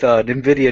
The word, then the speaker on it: Nvidia: So how do you Oh, pronounce? Is it Nvidia? Is that how you pronounce it? NVIDIA.